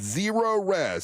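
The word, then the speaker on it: Zerorez: It's zero res. Here's how you spell it.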